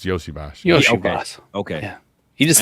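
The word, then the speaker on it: Iosivas: No, okay, it's Yoshi Voss then. Yeah. Yoshi Voss. If it looks like ESO Voss, it's Yoshi Voss.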